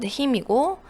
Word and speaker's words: hymn: 그 설교의 말씀을 전혀 뭐 전혀라는 표현은 듣지 않았는데 이제 듣지 않은 거에 대해서 자 힘은 찬송가 찬송하다는 뜻도 있고요 발음은 N이 묵음이어서 힘이고 awfully가 또 나왔습니다 그러니까